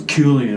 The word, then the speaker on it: Cillian: Cillian is what I I always thought it was Cillian. Yeah. But someone's like, no, it's Cillian.